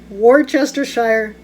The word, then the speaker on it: Worcestershire: going to do two tablespoons of worcestershire or chester sire or chester shire shawsh if you know how to say it comment below say i know how to say it worcestershire sauce there i know how to say it